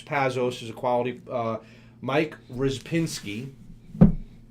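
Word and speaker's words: Rzepczynski: they have James Pazos as a quality mic rizz Pinsky it's it's pronounced RIS Pinsky but it's spelled with Z's and C's my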